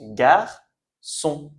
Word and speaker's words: garçon: Donc garcon, c'est comme boy en anglais, on prononce garçon.